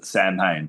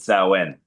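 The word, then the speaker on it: Samhain: Some people pronounce it snee but sen.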